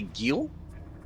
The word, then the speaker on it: Gil: That's definitely Gil, right? Yes, it's 100% Gil.